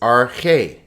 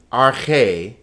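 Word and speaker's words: ἀρχή: The next word is arche. Notice there are two vowels, so there are two syllables. Arche. In arche, the accent is over this syllable, so it's arche, not arche, but arche.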